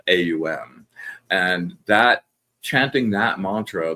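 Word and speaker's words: Aum: Um when you do and it's it's three syllables a U m. So it starts with a.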